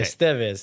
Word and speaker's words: Estevez: The accent is on the second syllable. You said it right. You said it right just now. Okay. Estevez, Nico Estevez.